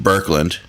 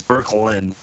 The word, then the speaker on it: Boecklin: like Berkland uh it's burklin and yeah it doesn't not pronounced any way it's uh spelled uh it's German and in Germany it's like there's no e it's just b o